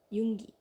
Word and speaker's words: Yoongi: Yoongi. Yoongi. Yoongi. Whatever. Just pronounce it Yoong.